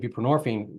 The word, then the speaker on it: buprenorphine: It's naloxone and buprenorphine, and buprenorphine rhymes with morphine, and as a congener, it's another opioid.